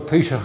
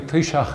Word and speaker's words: Taoiseach: The word Taoiseach is an old Irish word, but pronouncing Taoiseach, it has a ch sound at the end of it.